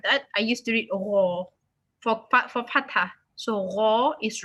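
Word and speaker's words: ر: Ra. So when you pronounce Ra, it's not Ra. It's not rounded.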